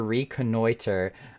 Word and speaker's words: reconnoiter: that word is garlic google i need help pronounce this word my purpose here is to reconnoiter i don't even know what that word means